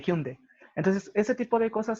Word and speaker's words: Hyundai: cuando por ejemplo o no se dice hyundai se dice hume de entonces este tipo de